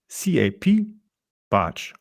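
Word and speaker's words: Capbartsch: Twitter by using the Twitter handle cap barge it's spelled c a p b a r t s c h yes that is Cap batch or spelled Charlie alpha papa Bravo Alpha Romeo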